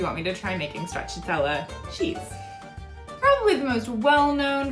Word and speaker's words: stracciatella: Stracciatella. Stracciatella. You do want to stress on the T syllable around the end, and of course double C in Italian sounds like CH.